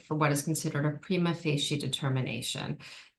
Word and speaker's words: prima facie: what is considered a prima facie determination. Prima facie, sometimes pronounced prima facie, means at first glance.